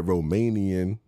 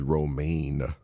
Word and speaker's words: romaine: here really thinking that Romanian lettuce is a thing Romanian man and if y'all not getting that the real term is romaine lettuce okay now Romanian is romaine all right so now